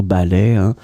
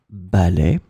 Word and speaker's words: ballet: So ballet, masculine noun. So in that case, we've got two masculine nouns. The first one, un ballet. Second one, un ballet, written differently but pronounced the same way.